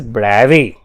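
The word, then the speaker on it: Bravais: is correctly pronounced as bravi it's he's a French so brems French have their own way of pronunciation so it's name is ago bravi he's a French physics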